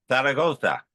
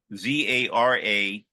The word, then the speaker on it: Zaragoza: Zaragoza, Zaragoza, Zaragoza. I love pronouncing it in Spain.